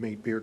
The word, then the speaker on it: Mate Beer: Thank you for pronouncing Mate Beer correctly. It's M8, but we always are happy to hear, good day, mate.